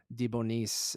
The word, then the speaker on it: DeBonis: That's probably not how you say it, but Is she it is Debois? so no, it's Debonis and the B is capitalized. So Deboni, Debonis.